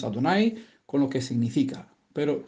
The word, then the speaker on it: Adonai: Siempre sabemos que en las escrituras, cuando aparecen las cuatro consonantes, lo pronunciamos Adonai con lo que significa.